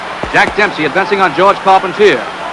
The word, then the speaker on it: Carpentier: Jack Dempsey advancing on George Carpentier, or Carpentier if you prefer the French pronunciation.